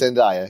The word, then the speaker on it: Endaya: It's Endaya. Yeah, it's been said many different ways, but that is the correct way to say it. Yes, thank you. So Chief Endaya and I have been